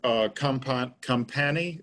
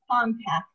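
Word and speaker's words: Kompac: And this is for Compani. Is that how you pronounce it, Cindy? It's Compact.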